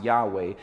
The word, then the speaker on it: Yahweh: this name and the original text would be pronounced Yahweh this was God's personal name this the name